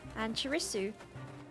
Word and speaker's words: Annchirisu: But it's not heavy emphasis on the Su. It's like, you know, my favorite Pokemon, Pachirisu. Pachirisu. It's just like... Oh, jump. Yeah, it's just like a light suit.